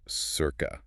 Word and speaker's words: CIRQA: And just to get it out of the way, that's CIRQA, but pronounced circa.